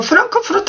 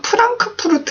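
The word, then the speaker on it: Frankfurt: 어려우실 수 있는데 한번 찍어보세요 와 그래서 제가 프랑크푸르트 암 마인 에 대해서 조금 말씀을 드리겠다 라고 했는데 그게 뭐냐면 보통 우리나라에서 프랑크푸르트 라고 무너져 프랑크푸르트 푸 란 크 푸르트 라고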